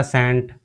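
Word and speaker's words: scent: ऐसे ही हमारा Baum Baum में हमारा बी साइलेंट हो जाता है। ऐसे ही हमारा सेंट एस ई एस सी ई एन टी सेंट सेंट में हमारा सी साइलेंट हो जाता है।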